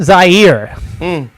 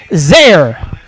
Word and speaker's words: Zaire: it was in Mount Zaire. And he said, coming to you live from Mount Zaire, some would pronounce it Zaire. They're wrong.